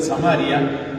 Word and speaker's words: Samaria: Las regiones son Galilea en el puro norte, Samaria en la mitad, otros pronuncian Samaria y Judea en el sur.